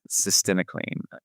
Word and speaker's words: cytisinicline: This week, we're going to be discussing Cytisinicline. Did I say that right? Cytisinicline. Cytisinicline. An old but new treatment for smoking cessation. You got to learn how to pronounce it. Cytisinicline.